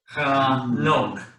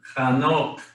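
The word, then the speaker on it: חנוך: Chanok. No. Hanok. Hanok.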